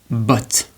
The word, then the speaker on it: but: Another example in French of the O, of the A is but. But. Pronounce after me. But. But. But. But. Which means boot.